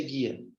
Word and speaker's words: guia: Olha que interessante guia como é que se pronuncia guia você tá falando assim tá falando assim hein guia não tá pronunciando logo esse não sai esse grupo G1 só sai um som esse cara aqui ele